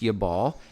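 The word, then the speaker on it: Jabal: the meaning of his name is 2988 also pronounced yabal and it means a stream now i'm going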